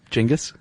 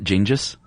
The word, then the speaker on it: Genghis: Genghis? That's how you say it. Okay. I saw the the thing that Fernbank they kept saying Genghis Khan, so that's how I'm saying it. Not Gingis? No.